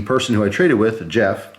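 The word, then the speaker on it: Geoff: And the person who I traded with, Jeff, spelled with a G, G-E-O-F-F, he had hooked me up with these as a total surprise.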